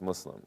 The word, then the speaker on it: Muslim: many different ways people say it you know Muslim Muslim Muslim but it's pronounced Muslim and you know it the mispronunciation the misspelling